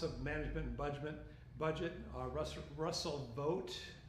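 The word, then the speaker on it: Vought: of the Office of Management and Budget, Russell Vogt. It's pronounced Vogt, which is kind of ironic, but nevertheless, who was also arguing for this Christian nationalism.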